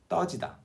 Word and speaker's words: 떠지다: The mouth shape, the tongue position are exactly the same between the two. You just pronounce this a little higher pitched, a little stronger. 떠지다.